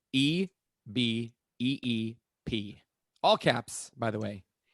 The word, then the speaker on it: eBeep: if you're curious about the spelling of this, it's EBEEP. All caps, by the way. Oh, so just eBeep, just spelled like it sounds.